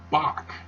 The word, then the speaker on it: Bach: replaces hay with tete-a-tete it is not the H sound it's the K sound that is found the word Bach for example johann sebastian bach and even though that's spelled with a CH the the bible uses